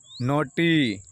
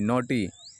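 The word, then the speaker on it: naughty: नोटी, एन ए यू जी एच टी बाई, नोटी, ठीक है, ये लिखा है नोटी, ठीक।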